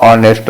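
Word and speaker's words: honest: ऑनेस्ट में ये जो ऑनेस्ट वर्ड लिखा है इसका प्रोनाउंसिएशन वोवेल से हो रहा है। हम क्या बोलते हैं इसको? ऑनेस्ट बोलते हैं। है ना? ऑनेस्ट। तो साउंड किसका आ रहा है?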